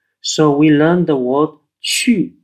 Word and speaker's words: qu: q X and J the letter U is not pronounced but it's pronounced as an umlaut so we learned the word Chu spelled q u then